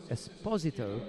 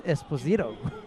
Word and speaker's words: Esposito: get involved in zadro and Esposito oddly enough that's how the Italians pronounce it because I know in the yeah I know in the United States of America is Esposito yeah so there's a slight difference in pronunciation there but we're not sticking